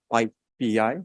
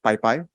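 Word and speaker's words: PyPI: python packaging index and it's spelled by Pei not Pi Pi Pi Pi is actually a different project but yeah Okay so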